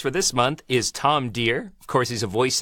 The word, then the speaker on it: Dheere: is not our here the H is silent but he's not please welcome to the vo meter Tom dear how you doing Tom